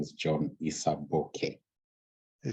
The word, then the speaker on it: Isaboke: for having me and my name is John Isa bokeh they said okay nice okay we're good welcome